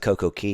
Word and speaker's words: Coco Cay: So, I like to call it Coco Key because I'm a I'm a snob and I think it's how you pronounce it. But it's very clear that Royal Caribbean's promotion is perfect day at Coco K.